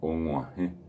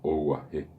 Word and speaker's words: omuaje: O por ejemplo, yo puedo decir Omuaje. Y si no utilizo la nasalidad o no sé pronunciar la nasalidad, la palabra saldría como oguaje, guaje. Y repito, la expresión guaraní es muaje.